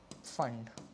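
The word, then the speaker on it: Pfund: Then six bracket और फंड p silent है।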